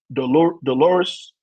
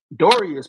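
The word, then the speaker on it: Dorlus: The number 4 pick, we picked Brandon Dolores from Oregon. I hope I pronounced his name right. Dorius. Okay. Dorius.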